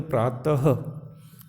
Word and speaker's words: प्रातः: जैसे प्रातः, क्या बोलेंगे? प्रातः, त के बाद में ह का भी उच्चारण होना चाहिए। प्रातः, अतः, प्रातः, अतः।